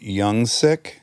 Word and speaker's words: Jungsik: Is it Youngsik? It's Jungsik. Yeah, Korean restaurant.